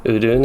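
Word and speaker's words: Udûn: Udun is how you pronounce it.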